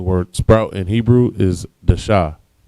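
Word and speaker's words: דשא: The word sprout in Hebrew is dasha. Da and sha, both characters are independent, so it's pronounced dasha.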